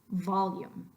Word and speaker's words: volume: Volume, volume. Not only am I giving it air, I'm giving it length. Volume. So the syllable va lasts longer than the syllable lum. Lium.